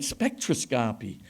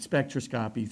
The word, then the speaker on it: spectroscopy: a presentation and I'd never heard the word spectroscopy pronounced before I'd only seen it in in print so I was calling it spectroscopy and this fine fellow in my advanced class came up to me afterwards at Spitzer that word spectroscopy you pronounced it spectroscopy three times and now the entire